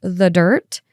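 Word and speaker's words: The Dyrt: They discovered that Gabby had been using an app called The Dirt, and it's spelled D-Y-R-T, and she used this to plan and track all of her hikes.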